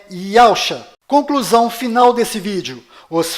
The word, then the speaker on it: Yausha: O verdadeiro nome do Messias está do lado direito da sua tela e a pronúncia dele é Iacha.